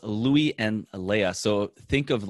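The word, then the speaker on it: Lea: and then and a and Leia think of like uh I guess I should say think of Princess Leia it's spelled differently but that's how you say it but it's it's actually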